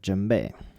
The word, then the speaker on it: djembe: of you probably are familiar with and it's jumbe apparently this is how to say it properly